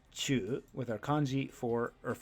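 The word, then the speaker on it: 忠: number seven is chujitsu Chu on the left side is our new kanji for loyal Fidelity or faithfulness pronounced Chu with our kanji for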